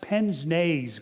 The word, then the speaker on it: pince-nez: And it's pronounced pince-nez glasses.